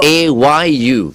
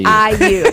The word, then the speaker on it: IU: I thought it was AYU. Yeah, okay. No, that's okay. fair enough. Okay, fair enough. Yeah. Oh, so is it pronounced IU or? Yeah, it's like IU, I and you, yeah, like IU.